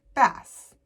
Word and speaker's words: Bass: of bass singer Lance Bass. It's funny, his last name is spelled B-A-S-S, but it's pronounced differently than bass.